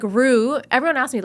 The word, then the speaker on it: Rue: And I'm like, "It's not Rux or Rux," right? It's I always thought it was like Rue like kangaroo.